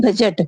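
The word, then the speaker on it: budget: Next है बजट। बजट बी यू डी जी ई टी बजट। बजट में क्या है? D also silent.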